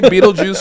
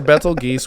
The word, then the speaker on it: Betelgeuse: So whether you say Beetlejuice or Betelgeuse, we won, so we can decide how we say it.